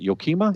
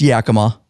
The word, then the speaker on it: Yakima: really last week last week how do you pronounce it yokima it's Yakima Yakima yep so you can tell I'm not